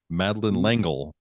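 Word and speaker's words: Madeleine L'Engle: the author one time oh how do you pronounce her name madin langle uh thank you 1963 because I was gonna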